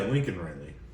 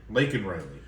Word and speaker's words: Laken Riley: yeah Lincoln Riley yeah Lincoln Riley did I say it correctly no lak lak Laken Riley yes um uh the the